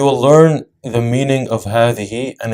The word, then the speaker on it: هذه: هذه is written with a ha, dal, ha, but the way it's pronounced is as if there's an alif that's added after the ha. So we say هذه, not هذه, right? We stretch the ha, هذه.